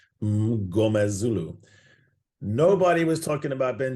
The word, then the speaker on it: Mngomezulu: And I just said, break it into constituent parts and make sure you get that Gomez, your friend from Latin America somewhere, Mngomezulu.